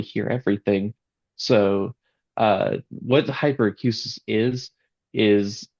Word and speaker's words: hyperacusis: And you have It's called hyperacusis, if I'm saying it right. Hyperacusis.